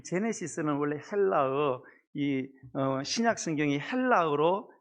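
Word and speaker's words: Genesis: 이 제네시스가 이 히브리어 베레시트를 사실은 이렇게 한 단어거든요. 이 제네시스는 원래 헬라어, 신약 성경이 헬라어로 적혀 있거든요. 헬라어의 게네시스를 영어가 제네시스, G를 G로 발음해서 제네시스.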